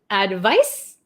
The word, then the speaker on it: advice: or recommend it's a verb one more time pronunciation advice advise okay okay so we'll do it really